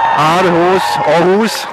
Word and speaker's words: Aarhus: Just to tell where we are and what is going on, we are in Aarhus, the right pronunciation.